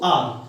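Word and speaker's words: hour: हैं बहुत से बचेगा इसको क्या होता है हावर बोलते हैं लेकिन हावर नहीं होता इसमें ह साइलेंट रहता आपको पता है ऐसे तो क्या बोलेंगे इसको आर क्या बोलेंगे आर अब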